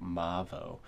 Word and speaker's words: MAVO: And yes, I asked them the pronunciation, and they said Mavo.